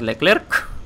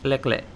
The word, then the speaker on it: Leclerc: hoy tenemos el leclerc no se pronuncia la final cada vez que lo hacéis muere un francés de un infarto así que no des leclerc es leclerc y antes de todo